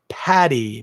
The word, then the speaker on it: Paddy: The short form for Patrick, despite the fact that Patrick is spelled with a T, is generally accepted in Irish as not being Patty, P-A-T-T-Y, but Paddy, P-A-D-D-Y.